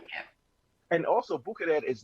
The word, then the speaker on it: Bucherer: And I'm glad that I'm pronouncing it right. Bucherer.